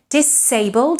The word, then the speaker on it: disabled: Disabled is with S as well, so you can't say disappointed, disappear or disabled.